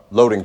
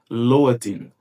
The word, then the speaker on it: loading: É como se esse D aqui ele perdesse o som de D e ficasse como se fosse com o som do nosso R fraco aqui no português.